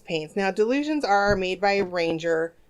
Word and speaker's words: Dylusions: delicious but for the delusions paints now delusions are made by a ranger dialouge it's spelled like die like dy the illusion so you're dyeing things not delusional oh my god I